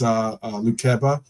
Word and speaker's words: Lukeba: And as Lukeba, that's how I pronounce his name.